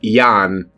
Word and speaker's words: Jan: It's spelled j an pronounced like yan.